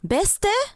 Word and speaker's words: Beste: You pronounce the E as E, as in. Eh? Beste?